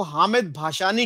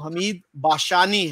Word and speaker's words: حمید باشانی: وضاحت کرتا چلوں کہ بہت سے لوگ ان کو حامد بھاشانی کہتے ہیں، حالانکہ صحیح تلفظ ان کے نام کا وہ حمید باشانی ہے۔ مولانا بھاشانی جو ایسٹ